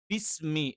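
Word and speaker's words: بسم: ഇത് രണ്ടിന്റെയും ഇടയിലുള്ള ഉച്ചാരണങ്ങൾ ഇതും പരിപൂർണമായിട്ടും തെറ്റാണ്. ബിസ്മി എന്ന് തന്നെ കറക്റ്റ് ആയിട്ട് പറയണം.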